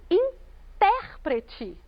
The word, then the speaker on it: intérprete: E quando eu digo intérprete, eu estou falando do nosso intérprete de Libras, ou da nossa.